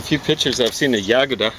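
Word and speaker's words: Yagoda: pictures i've seen the yaguda i think the accents on the first syllable with nikita khrushchev who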